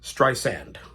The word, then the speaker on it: Streisand: For some reason, I thought her name was pronounced Streisand. And I always said Streisand. Now, as I got older, I did realize the proper pronunciation is Streisand.